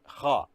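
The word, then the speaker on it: خ: Then we go to the third letter, which is Kha. This is Kha. And Kha is, the Kha should be pronounced from inner part of the throat, pressing the end of the tongue.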